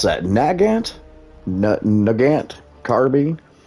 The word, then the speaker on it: Nagant: Nugant. Carbby. Aras are the same ones they used against the US MC in the Pacific theater. Ngant. Yes. Nagant.